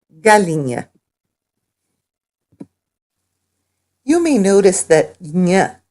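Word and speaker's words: galinha: and fish chicken is Galina Galina you may notice that yeah sound in Galena that's because NH in Portuguese is pronounced yeah yeah it's kind of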